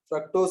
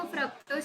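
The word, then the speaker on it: fructose: Chemistry sir में इसको फ्रक्टोज ही pronounce करते हैं। हाँ, फ्रुक्टोज भी बोल सकती है तू, फ्रक्टोज भी बोल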